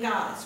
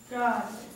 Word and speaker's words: goddess: now um Brandon goddess which syllable is emphasized in goddess which gets more goddess goddess goddess okay God gets the emphasis now you can start